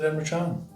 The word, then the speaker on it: Emre Can: I said Emre Can. Yeah, but the way it's pronounced.